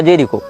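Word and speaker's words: Jericho: हो या फलस्तीन हो इसने जेरी को या जेरीचो जो भी इसका उच्चारण उन भाषा में किया जाता है जे ई आर आई सी एच ओ जेरीचो या जेरिको जहां तक जेरिको होना चाहिए उच्चारण यह फलस्तीन का प्रांत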